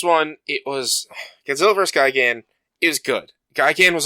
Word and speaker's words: Gigan: Godzilla versus Gyan G I don't know how to pronounce that it's Gyan um in my opinion